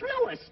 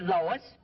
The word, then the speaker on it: Louis: the plant Lois Lois me name is Lis not Lois where ISAT me name wrong it's Lis l o u i s Lois uh uh Louise